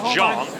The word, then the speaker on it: Jang: to beat name Jang it's spelled Jang and rhymes with big bang it is pronounced Jong but I guess they